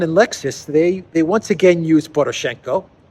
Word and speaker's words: Lexus: The first clown world is Lexus and Vovan. Vovan and Lexus, I believe that's the proper way to pronounce the prankster dynamic duo.